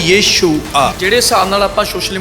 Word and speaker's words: यीशु: ਯਸੂ ਕੀ ਹੈ ਫਿਰ ਯਸੂ ਜਿਹੜਾ ਕਿ ਗੱਡੀ ਦੇਤੀ ਯਸੂ ਨੇ ਮੇਰਾ ਯਸੂ ਯਸੂ सोशल मीडिया ਆਪਾਂ ਦੇਖਦੇ ਆ ਉਹ प्रोनाउंसिएशन गलत है। राइट शब्द का प्रोनाउंसिएशन है वो है यीशु।